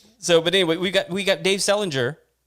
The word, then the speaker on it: Selinger: It's Dave Selinger, just like JD Salinger, Catcher in the Rye.